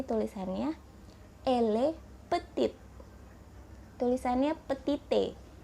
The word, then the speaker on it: petit: grand2 Pi dibacanya gram sedangkan kalau ke pendek tulisannya pethit tapi dibacanya peti ilegal RAM gile peti